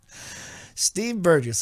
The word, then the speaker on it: Burgess: radio today Steve Burgess he said it's a soft G not a hard G it's a soft G Steve Burgess he was I was